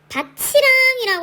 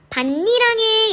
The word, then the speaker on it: 밭이랑: 기역, 밭이랑 논을 갈았다 라는 문장을 발음할 때 밭이랑이라고 선생님이 방금 발음했어요. 밭이랑 논을 갈았다 이렇게 얘기하죠. 그런데 니은을 보세요. 밭이랑에 양파를 심었다가 아니라 밭니랑에 양파를 심었다 이렇게 발음하거든요.